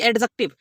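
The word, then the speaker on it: adjective: अब यहां मैंने एडजेक्टिव बोला ना कि एडजेक्टिव। देखिए जब कभी भी डी के बाद किसी शब्द में जे आ जाता है तो डी ऑटोमेटिकली साइलेंट हो जाता है, तो इसलिए यहां पर इसको एडजेक्टिव बोला जाएगा, ठीक है।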